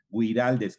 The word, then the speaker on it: Güiraldes: Güiraldes con diéresis en la U para que se pronuncie la U.